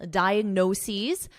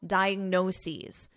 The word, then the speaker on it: diagnoses: They typically provide the user with a list of potential diagnoses This is the plural of diagnosis, the doctor provided one diagnosis. The doctor provided two diagnoses notice the pronunciation diagnoses, diagnoses, remember linguistic will share